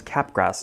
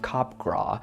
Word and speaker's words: Capgras: It was first documented by a French psychologist, so it's probably pronounced something like Capgras, but whatever, I'm American. Capgras.